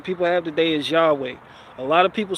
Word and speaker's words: Yahweh: as it stands in the Bible, the closest pronunciation people have today is Yahweh.